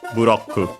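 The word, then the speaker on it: ブロック: as the closest or the usual pronunciation of Japanese R, which is a tap flap, ro, ro, ro, ro, ro, buroku.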